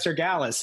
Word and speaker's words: Cyrgalis: on uh and that's brett cergalis am i pronouncing your name right brett bretz or gallus you are ryan you nailed it i've heard a lot